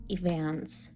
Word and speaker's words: events: Наголос повинен бути на другому складі, на середині слова evs. The charity organizes evans to support homeless people.